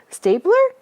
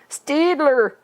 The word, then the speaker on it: Staedtler: Stapler? No. There's no P. It's D. Is that how you say it? Staedtler.